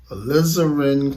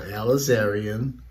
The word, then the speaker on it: alizarin: Alizarin crimson, not alizarian. That's another spelling. Alizarin, that's how you pronounce that.